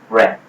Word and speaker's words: breadth: Okay, breadth, I mentioned that the last time that is spelled B-R-E-A-D, so which is bread, and with TH, okay, the loaf of bread. Okay, so bread plus TH, bread.